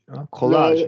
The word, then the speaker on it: collage: and also at uh College H colag yeah sorry colag colag collage okay collage yeah yeah that's right collage yeah it been